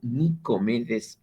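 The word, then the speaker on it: Nicomedes: pensador cruceño nicómedes antelo ese nombre de origen griego normalmente se pronuncian nicómedes alteró pero él decidió abolir su el acento sobre su nombre y se lo conoce como nicómedes antelo este hombre ha publicado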